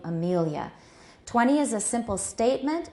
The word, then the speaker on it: Amelia: And me is the stress syllable.